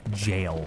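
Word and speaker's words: gaol: I always trip on the word jail when spelled in the old Gaelic, G-A-O-L.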